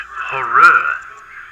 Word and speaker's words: Horrere: It's pronounced Horrere.